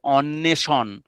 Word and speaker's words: অন্বেষণ: এই বগুলো লেখা হয় বটে কিন্তু উচ্চারণ হয় না। মন্যন্তর স্বস্তি হ্যা সগতম। তারপর আমরা যদি বলি যে অন্বেষণ অন্বেষণ অদন্তন্যয় বয়েকার মধ্যন্যস মধ্যন্য।